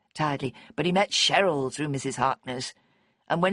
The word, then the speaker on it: Cheryl: They'd introduce themselves rapidly, and the only name that stuck in Simey's memory was Cheryl, pronounced with the hard English ch rather than the American Cheryl, which Sime thought much nicer.